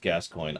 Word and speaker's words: Gascoigne: Yeah, I know it's pronounced Gascoigne.